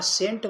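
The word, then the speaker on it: scent: spelling लपलेला आहे हा सेंट म्हणजे काय माहिती आहे का याच्यामध्ये एस सायलेंट आहे हा सेंट म्हणजे सुगंध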